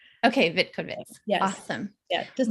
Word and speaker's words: Vitkovits: Last name is Vitkovits. Okay, Vitkovits.